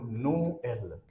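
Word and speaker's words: Noël: n o n but if we put double dot on E then what will it be in that case its pronunciation will become no l which means Christmas in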